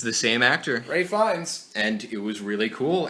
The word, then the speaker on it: Ralph Fiennes: Yeah, and I mean, you wouldn't have noticed it was Ralph Fiennes. It's not Ralph Fiennes, like his name is spelled. It's pronounced very weird.